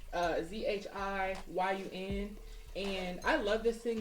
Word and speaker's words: Zhiyun: I use my, I think it's called or pronounced Zhiyun. I think it's called that. It's Zhiyun, and I love this thing because it's a camera stabilizer and it's just really smooth.